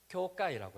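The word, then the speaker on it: 協会: 이렇게 돼 있더라고요 근데 일본어 발음으로 협회가 교회예요 발음이 똑같아요 교가이라고 해서 협회도 되기도 하고 교회가 되기도 합니다 지금 뭐 교회라고 말하기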